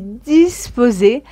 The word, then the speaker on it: disposée: prête est disposé disposé au féminin nous allons ajouter un e mais il ne se prononce pas mon exposé est achevé je suis disposée à entamer notre discussion